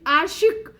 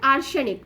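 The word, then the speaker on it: Орешник: चर्चा में रही आर्शिक, देखिए इसको एक्चुअली लोग प्रोनाउंस क्या कर देते हैं, आर्सेनिक, तो आप भी कर सकते हैं क्योंकि आर्सेनिक जो है वो थोड़ा सा रशियन वर्ड है।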